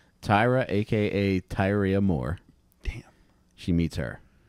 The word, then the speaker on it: Tyria: I bet it spelled like it looks like it rhymes with diarrhea. Tyra, a.k.a. Tyria Moore.